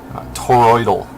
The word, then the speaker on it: toroidal: god that's tell me that's not hard to pronounce toroidal there we go stupid mathematical shape toroid yeah